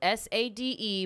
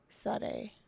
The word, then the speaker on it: Sade: Okay, it's spelled S-A-D-E, but it's like Sage or Suave.